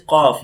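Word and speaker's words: ق: When the root side of the tongue touches upside, like roof of the mouth, so cough will produce, okay?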